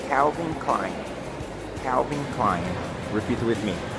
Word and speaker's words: Calvin Klein: Que em português a gente fala Calvin Klein, né? Alguma coisa assim do tipo. Mas a pronúncia em inglês é Calvin Klein.